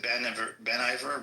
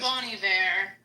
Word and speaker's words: Bon Iver: Ben Iver? Ben, what's his name? Is that what his name is? Bon Iver. Yeah, it always throws me off because it's spelled like Yeah. Ben.